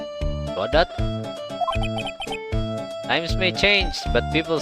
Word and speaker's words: Godot: Makanya, tapi setahu aku bacanya Godo. Godo ya? rasanya kayak kasihan aja dipanggil Godot.